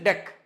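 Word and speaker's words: deque: why I am telling this should not be pronounced as DQ guys and it is d e qu u e so it is deck deck means type of Q and DQ means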